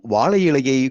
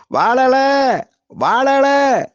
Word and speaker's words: வாழை இலை: தங்கை இருவரும் வாழைக்காய் மற்றும் வாழை இலையை கூவி விற்கிறார்கள் முதலில் அக்கா வாழை இலையை கூவி விற்பதில் அதன் உச்சரிப்பில் வாழை இலை வாழை இலை என விற்பதற்கு பதிலாக வாழல வாழல என்று எதிர்மறையாக கூவி விற்பதைக் கண்ட தங்கை பதறுகிறாள் பதரும்